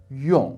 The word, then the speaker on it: 用: And the most common word probably is if you add a fourth tone and pronounce it 用, which means to use.